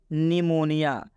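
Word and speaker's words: pneumonia: अब देख लेते हैं निमोनिया इसमें पी साइलेंट है इसमें पी का उच्चारण नहीं किया जा रहा है मतलबी इसमें पी को हम बिल्कुल नहीं पढ़ रहे निमोनिया का मतलब होता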